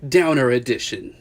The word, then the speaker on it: Downer Edn: chat about the new low life album it's pronounced downer edition low life are an Australian post-punk band came